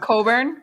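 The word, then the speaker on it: Cockburn: for four right there pronounce it yeah it's pronounced coburn how's it possible his family his family absolutely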